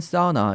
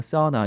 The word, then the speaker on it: sauna: 여기서는 간단히 컵이 안 사우나 이렇게 얘기를 했죠 이 사우나 하는 sauna 라고 쓰는데 사우나 라고 발음하지 않고 그냥 쌓은 아 이런 정도로 발음을 하죠 바로 좀 주의하시고요 어